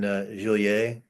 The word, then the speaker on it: Genolier: I think it's in it's going to be in Joliet, which is spelled Genolier.